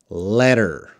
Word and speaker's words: letter: Jihan, later, letter. Later, letter. That's how you pronounce them.